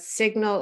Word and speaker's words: signal: say sign in that signal a lot of people get confused between signal and sign because then we pronounce this the g in signal and even crazier whistle